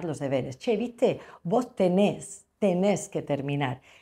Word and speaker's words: tenés: Nosotros vamos a poner en España, tú tienes, y allí van a escribir tenés, con acento en la E.